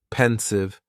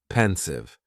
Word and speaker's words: pensive: Just 2 syllables. And the stress is on that first syllable, pensive, pensive.